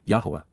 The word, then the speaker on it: Yahowah: showing what was wrong, Yahowah, the proper pronunciation of the name of Eloah, God as directed in his Torah, teaching.